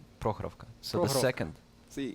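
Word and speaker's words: Prokhorovka: That's you put the emphasis on the first part of the word. Prokhrovka.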